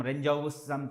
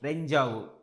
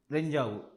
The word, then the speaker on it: Rendezvous: It is not the pronunciation which you think that some Renjavu, something like that. No, it is Renjavu. Renjavu.